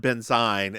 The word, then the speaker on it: benzine: Yes, they're both pronounced benzene. And they're both like two completely different things. You say benzene and I say benzene. Yeah. Like I would pronounce one benzine and the other benzene, but no, they're both benzene.